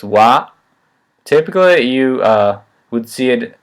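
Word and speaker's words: は: assume you already know it which the particle wha it's written as a hiragana ha but it's pronounced wha typically you would see it h8 here i'm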